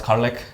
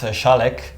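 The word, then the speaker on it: Kärlek: name is Tian so like he said not Carlick but why Carli maybe maybe yeah so Carlick is a is a Swedish word actually it's pronounced shalik it's because I used to work in Sweden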